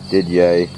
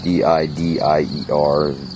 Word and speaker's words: Didier: The sickle bar mower that's on it is Didier made in Racine. It's D-I-D-I-E-R, be a French name, not Didier as I hear people pronounce it.